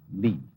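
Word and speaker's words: 理: wood or the fiber and muscle and it's pronounced lean this is a character then meaning really the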